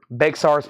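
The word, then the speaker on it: Bexar: $4.99 and jafria is $26.99 jafria is $26.99 Bear's pronounced bear Chad it's a county in Texas the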